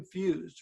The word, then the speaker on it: Fuhs: you need to do that and it's fused right that pronounced the last name right yes uh f-u-h-s